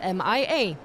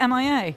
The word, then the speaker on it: MIA: So, okay, now I'm questioning my entire existence because I've always pronounced 156 as Mia. Is it MIA? I checked the pronunciation guide and it says MIA.